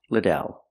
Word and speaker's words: Liddell: you pronounce your last name I answer it's pronounced Liddell let's practice how do you pronounce your last